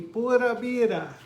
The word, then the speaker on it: pura vida: you can kind of just say it like P-O-O-D-A, vida, pura vida. And it'll sound more like a Tico, a little bit more like a Tico.